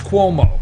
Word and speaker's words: Cuomo: murderer um status status cuomo see that that way i could pronounce it right if i say status quo status cuomo okay so they passed